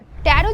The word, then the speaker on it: tarot: बट यह जो last वाला टी है ना वो साइलेंट होता है। तो इसको हम प्रोनाउंस करते हैं टैरो कार्ड्स।